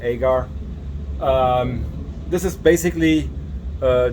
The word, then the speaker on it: agar: have our mode extract agar or Egger it really depends where you are in the United States how to pronounce that I will probably say agar um this is basically